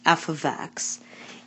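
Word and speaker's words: f(x): the standard form of a quadratic function is f ofx equal a x^2 + BX + C where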